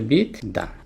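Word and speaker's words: বিদ্বান: তাহলে বিদ্যান বরসই তাহলে ব মাঝখানে আছে মানে উচ্চারিত হবে না কিন্তু কার সাথে আছে দ এর সাথে আছে তার মানে দ এর দুইবার হবে তাহলে দইভাবে দিতে হবে দ এবং দ তাহলে বিদান তাহলে শিখে ফেললাম আমরা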